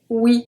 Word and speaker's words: oui: We have oui, oui, oui.